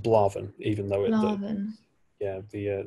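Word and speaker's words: Blà Bheinn: blavin is a great that's great mountain bizarrely pronounced blaven even though yeah the uh the beauty of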